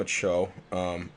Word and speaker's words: Acho: So, you got Pernell McPhee, Sam Acho, do we know how we pronounce that? I think he was on the radio yesterday, and they kept calling him Acho, so that's what I'm going And with.